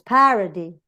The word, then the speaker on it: parody: If both the second and third syllable are weak, ¿no? Supongamos que ni esta ni esta, the stress, of course, will fall on the initial syllable, the first syllable. Parody, monitor. No digo monita. O parody. It's parody.